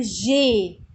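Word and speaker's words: j'ai: مش هقول بقى جو خلاص الجو مش موجود هقول جي ألضمها كده ببعض كده زي ما بيقول يبقى جي جي يعني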